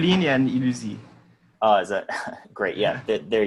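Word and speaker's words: Illusie: with primarily right here is I also can't pronounce it because he's French, but it's Delane Illusi, I think is how you say it. It's a De ligne and Illusi.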